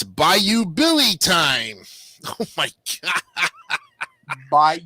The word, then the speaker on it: Bayou Billy: a all right it's by you Billy time oh my God by you Billy yeah okay wait how do you spell it b-a-y-o-u Billy well like like on the Bayou and we'll start with